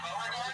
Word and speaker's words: Beauregard: Is that how you say your name, Beauregard? Yeah, thanks for the pronunciation.